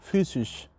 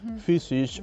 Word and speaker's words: physisch: Entonces, Por ejemplo, physisch. Es como una vocal, ¿no? Physisch. Physisch. Es como una U.